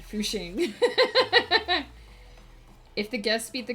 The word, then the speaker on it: Fucking: It's like if you live in the town of fucking, they pronounce it Fushing.